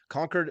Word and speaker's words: Concord: Estate in Concord Concord do you call it conquered or Concord you said it right the first time I was so proud of conord con I say conquered but I know some people say Concord the the Heathen that's what Yankees say yeah that's right we're